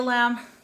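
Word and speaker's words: lame: So I recommend that if you can get a lamb, that you use it. It's spelled L-A-M-E, and it's a really handy tool.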